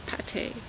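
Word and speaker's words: pâté: If it has the accent, as in the food, it's pate.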